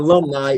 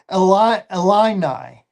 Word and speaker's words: Illini: Uh, It's not alumni.